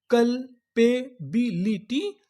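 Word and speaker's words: culpability: मैं आपको बता दूं कि यहाँ पर जो हमारा यू है वो साइलेंट रहेगा, हमें यहाँ पे यू का उच्चारण नहीं करना।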